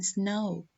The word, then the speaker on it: snow: The silent letter is the W in snow.